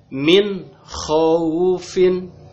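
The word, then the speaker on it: مِنْ خَوْفٍ: Cara bacanya gimana? Dibaca jelas juga. En. Contoh, min khaufin, gitu ya. Min khaufin. Nah, dibaca en, gitu ya.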